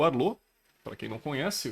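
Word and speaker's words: Arlott: Grande Arlo. Pra quem não sabe, não é Arlote, tá? Na própria animação fala que ele é o Arlo, porque o T dele é mudo quando se fala, então, ok.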